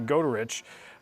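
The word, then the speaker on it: Goderich: That's not Goodrich. A lot of people tell me that Goodrich is at the wrong spot on the map. That's actually Godrich. Um might be pronouncing it incorrectly, but that is a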